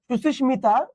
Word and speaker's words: সুস্মিতা: শব্দই হচ্ছে তৎসম শব্দ আর তৎসম শব্দের ম ফলার উচ্চারণ বজায় থাকে বুঝতে পারছেন এ কিন্তু